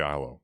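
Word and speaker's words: Eylau: I saw Texarkana, Liberty, ILO, and I was like, I don't know how to say ILO, so I just said Liberty.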